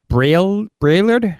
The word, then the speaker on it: Braillard: Just say it as it's spelled. Braillard?